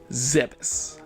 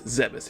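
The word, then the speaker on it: Zebes: of all time okay the official pronunciation of the planet is zebus i can confirm it's zebus if you play other m samus says zebus also if you look at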